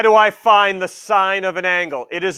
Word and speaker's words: sine: Sine, the whole spelling is S-I-N-E, but we abbreviate it S-I-N, and no, it is not pronounced sin. It is sine, okay?